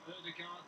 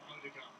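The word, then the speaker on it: Ødegaard: He says that you pronounce his name Odegaard, but he's quite happy for people in England to call him Odegaard.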